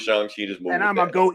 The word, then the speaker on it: Shang-Chi: just want to where they call him Shan shei I'm call him Shan shei woke Marvel won't change me you know Gonna Change not my Shang ch right they just gonna keep saying they're gonna double down they gonna lean into it no we're not going to do that if they say it's Shan Chi we're g to go with Shan Chi just move and